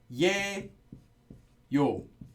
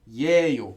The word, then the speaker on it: 예요: But actually it is 예요, but pronounced as, always pronounced as 에요.